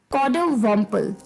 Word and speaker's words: coddiwomple: वो थोड़ा सा अटपट है, तो जो उसकी प्रोनाउंसिएशन है वो थोड़ी सी अटपटी लग सकती है आपको। कॉडोवम्पल।